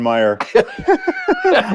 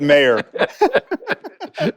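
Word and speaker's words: Mayer: why I didn't like John Meyer or is it mayor yes mayor it's even better you mispronounced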